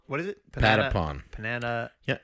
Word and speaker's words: Patapon: Panatapon. What is it? Patapon. Panata. Yeah. So repeat after me. Pata. Panata. Nope. Pata. Say it. Spell it. P-A-T-A. P-A-N-T. Nope. Pata. Patapon. Patapon. There we go.